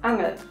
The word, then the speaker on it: Angel: word number two angel if you pronounce it german it's angel the angel which means